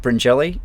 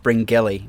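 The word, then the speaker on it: Bringelly: So I'm from a little town called Bringelli. It's um or as Jack Bernacle always mispronounces it, Bringing. But it's not. It's got a G in it, but it's pronounced Bringelli.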